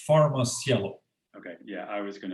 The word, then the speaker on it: PharmaCielo: mispronounce the name of the company could you pronounce it of course it's far most yellow okay yeah i was going to i was